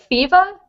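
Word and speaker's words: Pheeva: How do you spell it? It's Fiva, P-H-E-E-V-A.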